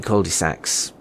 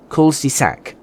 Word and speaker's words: culs-de-sac: could end up being cul de sacs of cul de sacs no culs-de-sac there you go that's how that's pronounced of of some sort